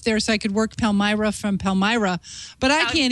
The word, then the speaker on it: Palmyra: Yeah, Palmyra. I used to live near Palmyra, Wisconsin. I was thinking of taking a road trip up there so I could work Palmyra from Palmyra.